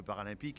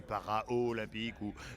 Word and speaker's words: paralympique: D'ailleurs, le mot paralympique, ils savent le prononcer. Nous, en France, on doit avoir encore quelques hérissons dans la bouche et on dit toujours les Jeux, alors c'est para-olympique et que souvent olympique.